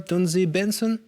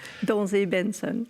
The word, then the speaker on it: Donzé Benson: Grâce à vous, alors c'est Donze Benson. Voilà, on prononce comme ça avec l'accent pas tout à fait suisse. Hein. Donze Benson.